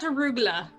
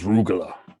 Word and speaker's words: arugula: What about arugula?